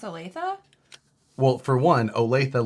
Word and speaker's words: Olathe: olathe well for one olathe looks nothing like olathe it looks like olaf nobody knows that that